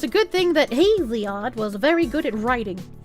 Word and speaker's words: Hesiod: Remember how earlier I said you should read Hesiod, pronounced Hesiod.